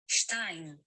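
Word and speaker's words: שתיים: Okay, no, so the only difference is it changes from an A sound to an S sound or an AY sound. So it's like shtem versus shtayim. And notice there's no diphthong here. This is a diphthong on the number 2. So it's like A plus I equals AI sound. So that's how we get shtayim for 2.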